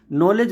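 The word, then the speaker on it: knowledge: वो भी जानता है और नॉलेज के से शुरू होता है और किस उसमें के साइलेंट रहता है तो रूल क्या है अगर के के बाद एन आता है के और एन का कॉमिनेशन होता है तो ऑल टाइम के लेटर साइलेंट माना जाता है इस बात को ध्यान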